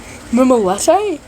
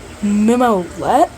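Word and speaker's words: Mimolette: Anyways, um me mimi mimlete. Mimlette, huh? Mimolet. You had to show me how it's spelled.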